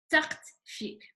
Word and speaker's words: ثقت فيك: Okay, ثقت فيك. I know that's hard to pronounce. ثقت فيك. T9T. So T, number 9 is ق.